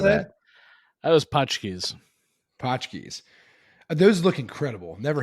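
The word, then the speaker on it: Pączki: So I don't know how you pronounce it, but like, is it Patchkey, Punchkey, like Punch- whatever Punchkeys.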